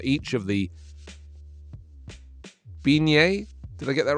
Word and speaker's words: beignet: i don't know i've never heard of it beignet there you go it's a french type of